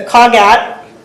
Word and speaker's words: CogAT: at what was available the cogat which it might sound like we're pronouncing that wrong but that is actually correct it's different from what you would think with um the word cognitive um we're proposing that